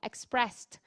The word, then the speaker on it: expressed: Nós falamos com som de T no final, expressed. Elas rimam perfeitamente com guest e breast, por mais que no final seja escrito com ED.